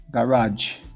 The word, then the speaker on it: garage: Nesse caso aqui, ó, a sílaba tônica é a segunda, garage.